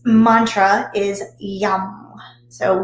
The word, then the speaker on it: yam: is associated with air and its mantra is yum so y-a-m but it's pronounced yam the heart chakra is like i